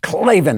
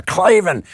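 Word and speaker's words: Klavan: to write clavin and you want to just say it just the same way say it with that alpha clavin right in there and also spell it that way k l a v a n and don't put in any e's that's for losers one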